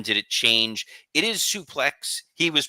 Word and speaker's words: suplex: a question for you is it suplex or sup play I watched the Greg Valentine match from 84 and solely kept calling it a sup play when did it change it is suplex he was pronouncing it in the the French